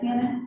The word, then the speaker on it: Mannon: Did I pronounce that correctly? Yes. Mannon? Yeah.